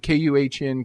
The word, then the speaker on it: Kuhn: I forget how you pronounce it. You're doing great. K-U-H-N, Kuhn.